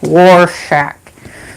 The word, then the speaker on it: Rorschach: like what's up hey what's his name sound like Tippi you guys like war shack sounds like the way it's spelt is also kind of cool too it's not spelt like W it's not spelled like w AR it's spelt like RRR SCH a CH homicide end for somebody